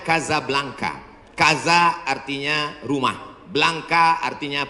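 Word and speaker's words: Casablanca: Ibu kotanya tulisannya Casa Blanca. Cara bacanya Kazablanka.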